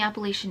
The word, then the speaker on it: Appalachia: compound fracture and it takes place in the Appalachian Mountains and one thing about me I love